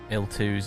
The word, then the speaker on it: IL-2: of the aisle twos l2s it's supposed to be pronounced L2 that's why the it's not Capital IL it's capital I lower case L2 just sounds weird in English to pronounce it that way obviously um yeah foreign